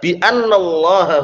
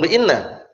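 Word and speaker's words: أنّ: Jadi kalau masuk huruf jar bacanya anna. Dzalika bi annallaha huwal haq. Bi annallah bukan bi inna.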